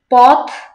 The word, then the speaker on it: পথ: চলে, তিমির রাত্রি, রাত্রি, পথ, পথ, এই ঠটা কি বলে সরি থটা উচ্চারণ করতে হবে একটু জোর দিয়ে, পথ, পথ, জুড়ে, জুড়ে,